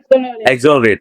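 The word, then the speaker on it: exonerate: एक्सोनरेट। एक्सोनरेट की भैया यहाँ पर प्रोनाउंसिएशन गलत लिखी हुई है, हम सही बोल रहे हैं, ठीक है।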